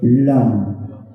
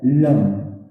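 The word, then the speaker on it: लं: लम लम लम लम, यानी कि लौ के ऊपर एक बिंदी, जब हम उसका उच्चारण करते हैं तो वो कहलाता है लम। अगर मैं अंग्रेजी की बात करूं तो LAM, लम। क्या जैसे आपने लम का उच्चारण किया, क्या आपका जीभ आपके तालू से कनेक्ट हुआ?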